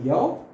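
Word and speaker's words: ㅕ: vertical stroke will be yaw. If we see the pronunciation of yaw in Roman, so it should be like YAU, yaw. Right? Yes, so again in some book you will find it YEO also yo, but as per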